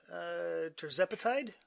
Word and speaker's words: tirzepatide: Terzepatide?